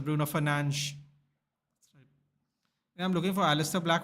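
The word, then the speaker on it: Bruno Fernandes: It is pronounced as Bruno Fernanch.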